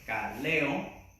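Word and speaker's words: καλέω: Llamado, el término griego kaleo, así con K, kaleo, le pone acento en la E, kaleo, llamado, del griego kaleo, y significa un llamar propiamente en voz alta, ser invitado.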